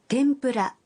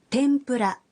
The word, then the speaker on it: 天ぷら: Tempura pengucapannya adalah 天ぷら天ぷら dan akan makan adalah 食べます食べます cobalah.